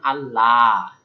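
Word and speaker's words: الله: কারণ কি এটা আল্লাহ শব্দের লাম না স্বাভাবিক এজন্য এটা লাল ওকে পাতলা আল্লাহ তাবুদু ইল্লাল্লাহ কিন্তু এইযে আল্লাহ শব্দের লাম এটা কিন্তু আমরা লাল এটা বলব ল মোটা এইযে পার্থক্য যে স্বাভাবিক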